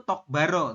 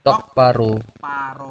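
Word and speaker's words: 똑바로: nih begini Anda ini memang tulisannya itu Tok Baro teman-teman ini tok ini ba Ini ro begitu kan cuman di aturan baca di sini Nomor 12 ya itu menyebutkan bahwa kalau ada Giok ya ketemu dengan bep maka bep ini berubah bunyi jadi sang B bunyinya adalah P ya Jadi anda mengejanya seperti ini to paro betul jadi Jadi bukan tok Baro seperti itu ya tulisannya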